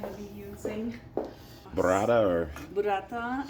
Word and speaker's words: Burrata: Burrata, absolutely. You said it right. I try. I'm from Nepal, so I try to pay Roll your respect. R's. Roll your R's.